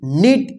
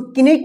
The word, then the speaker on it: knot: देखिए यहां पे KNOT, इसको क्या पढ़ेंगे, नॉट। कनॉट मत पढ़िएगा।